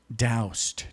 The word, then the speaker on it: Daoust: So how can people out there best get in touch with Daoust? Did I say it right? Yes, rhymes with Faust.